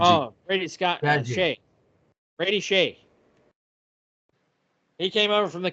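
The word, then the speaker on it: Brady Skjei: Brady Shea.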